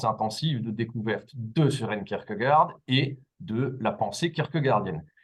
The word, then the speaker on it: Kierkegaard: Quant à la prononciation exacte du nom propre, il convient de dire Kierkegaard, bien que le Kierkegaard soit passé dans les mœurs françaises très largement.